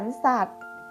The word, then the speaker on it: สัตว์: สัตว์ อ่าน ว่า สวน สัตว์ คำ ว่า สัตว์ นะ คะ มี ต่อ เต่า เป็น ตัว สะกด ต่อ เต่า อยู่ ใน มาตรา แม่ กด อ่าน ออก เสียง เด็ก สะ กด ค่ะ ดู ดวง อาทิตย์